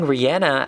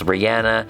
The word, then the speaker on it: Rihanna: And also just to say you guys have been correcting how I pronounce Rihanna. This is her pronouncing her own name. Hey guys, it's Rihanna. It's Rihanna. It's Rihanna. I know. It was just not me. I thought it was Rihanna, but it's Rihanna.